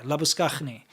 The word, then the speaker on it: Labuschagne: Yeah, Labuschagne. That's an Afrikaans name. It's originally based off a French surname, but it's very, very much an Afrikaans South African surname, Labuschagne.